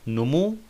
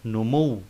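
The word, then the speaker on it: نموّ: It's not numu, but numu. There is shadda on wow.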